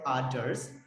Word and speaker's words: others: Nah, untuk yang ini teman-teman, usahakan ujung lidahnya digigit. Kita kan cenderung cara bacanya ini kayak kita pakai D, others gitu. No, it is not others, but it was supposed